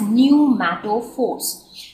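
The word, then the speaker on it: pneumatophores: structures are called new Force so this is pronounced as new Force so these specialized structures they arise from the root so they develop from root and they act as respiratory organs so these numato Force are the respiratory organ for these plants now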